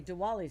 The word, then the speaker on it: Diwali: in there is a Diwali sale it's it's pronounced Diwali I say Diwali what is that hello